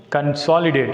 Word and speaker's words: consolidate: Consolidate. Here the word begins with the prefix CON. That's why it takes stress on the second syllable S.